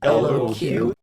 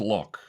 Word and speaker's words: LOQ: Uh, I guess that's meant to be LQ. Well, this is kind of awkward. It's actually pronounced lock or L O.